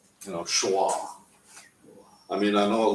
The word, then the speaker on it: schwa: two dots these two dots it's called a schwa you know you pronounce it when you're saying it you say it like you know schwa I mean I know it looks like Shiva